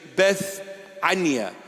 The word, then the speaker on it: Bethania: in a town called Bethania or Bethany. In English, it is pronounced Bethany, but in the original pronunciation, in the Hebrew Aramaic pronunciation, Bethania.